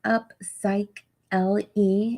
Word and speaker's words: Upsychelly: do see the name down there this is up psych l e is how you pronounce it and it sounds like a cycling